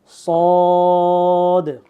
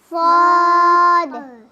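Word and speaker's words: صاد: আসবে ঠিক আছে সদ সদ সদের উচ্চারণটা অনেকটা সিনের মতই কিন্তু সদের উচ্চারণটা এটার সিফাত ভিন্ন।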